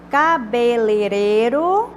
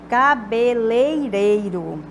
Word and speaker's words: cabeleireiro: Cabeleireiro, no lugar de cabeleireiro. Então, tá, à direita é a forma correta de pronunciar.